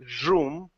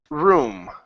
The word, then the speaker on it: room: up so high so so you're not saying Zoom okay but room okay room there you go